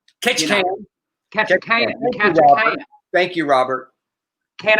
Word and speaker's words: Ketchikan: All right, and by the way, Tot said it's pronounced Ketchikan. Ketchikan.